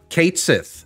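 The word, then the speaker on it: Cait Sith: they going to say are they going to say catchy or not turns out no they are going to pronounce it Kate Sith in in rebirth it's true um so like yes the mythological thing is called Ki but this one is going to be called kth so there you go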